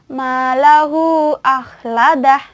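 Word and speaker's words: مَالَهُ أَخْلَدَهُ: Bacaannya adalah malahu akhladah. Jadi dibacanya bisa 4 atau 5. Saya contohkan yang 4 harokat saja ya. Nah, malahu akhladah. Ulangi lagi. Malahu akhladah.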